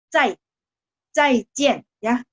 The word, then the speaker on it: 再见: 再见, Z bacanya C. 再见ya. JIAN bunyinya agak JIEN.